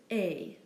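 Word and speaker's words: est: for and is pronounced a not at it's simply a the verb is such as he is and she is it does look like s but it's actually also pronounced a for example la T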